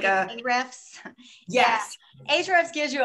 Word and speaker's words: Ahrefs: It's like Ahrefs.